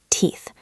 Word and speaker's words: teeth: Be careful with the pronunciation of teeth. It has that soft th sound at the end. Teeth.